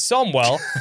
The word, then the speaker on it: Samuel: My name is Samuel, pronounced Somwell. Sorry, my name is Somwell.